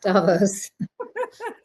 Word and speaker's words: Davos: So what lessons from that inaugural Davos, pronounce it correctly. Yes, Davos.